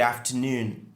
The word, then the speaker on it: afternoon: Bon après-midi, se dit good afternoon, good afternoon, good afternoon. Donc, l'accentuation est sur noon, qui est la partie qui est prononcée plus clairement.